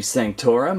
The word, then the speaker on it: Sanctorum: Well, anyhow, this set is packed with a million features, so right now we're looking at the front entrance of the Sanctorum of Doctor Strange.